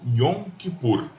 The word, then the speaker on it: Yom Kippur: Perdão dia do Perdão em hebraico a gente pronuncia-se como yom kippur John e puro é